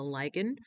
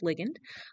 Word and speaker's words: ligand: So, signal transduction is a process by which messages received from outside the cell, usually through a signaling molecule, which is called a ligand, sometimes pronounced ligand, and by which that